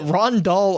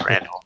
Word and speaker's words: Randall: Is it Rondal or is it Randall? It's Randall. It's Randall. You put the emphasis on the wrong syllable.